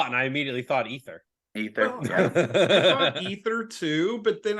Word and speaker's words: Aether: the name of the band is ether you really didn't know how to pronounce that dude it's okay we get a lot of we get a lot of people that say Aether so that's all right